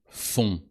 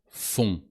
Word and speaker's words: font: Ils font. Elles font. On. O-N-T, and the T is silent.